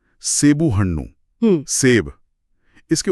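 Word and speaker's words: ಹಣ್ಣು: वो जो हन्नू है ना, उसमें न की जो मिली हुई ध्वनि है और हल्की सी नाक से आवाज।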